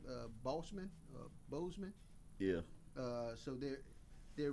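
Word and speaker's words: Boseman: how do you say his name uh bossman bozeman yeah uh so they're they're renaming their fine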